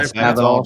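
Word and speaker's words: Spavital: Somebody in here in the chat, the Baylor offensive coordinator, how do you pronounce it? Spadaval? Yeah, Spadaval, Jake.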